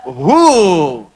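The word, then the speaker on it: هو: Hu, singkatan dari huwa. Hu itu singkatan dari huwa. Huwa begini. Karena kalau kita wakaf dalam bacaan huwa, wa-nya nggak dibaca. Bacanya hu.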